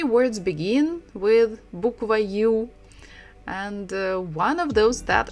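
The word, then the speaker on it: ю: behind it maybe so this letter is you you you you you you you you like in English when we say you are you so you you but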